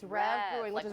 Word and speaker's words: Rev: then what about I don't know how to pronounce this one it's r v rev it's rev Brewing which is right next matter yes it's